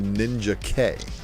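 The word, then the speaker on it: Ninjak: been explained to me we've been calling it ninja and what up chad cave but uh i've been told that the creek the correct pronunciation is actually ninja k because if he dies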